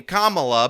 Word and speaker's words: Kamala: let's let's um Kamala and I'm calling you Kamala cuz for all of those who are mispronouncing it I want you all to know